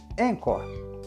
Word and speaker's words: Anchor: todo mundo começa aqui Vale lembrar que encor se escreve a n c h o r encor o jeito mais fácil